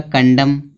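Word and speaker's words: condemn: Silent होगा। ठीक है? तो कॉलम पृष्ठ का भाग होता है। आगे यहां दिया है कंडम।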